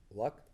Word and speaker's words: Luck: Yes, Holly Luck, is how she pronounces her last name, started as a COA